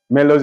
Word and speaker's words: Melos: Melody which he calls Mellows or more pigs Melos is spelled m-e-l-o-s m-e-l-o-s are more p m o